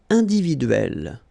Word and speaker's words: individuelle: It will open the sound of so you will pronounce it like é.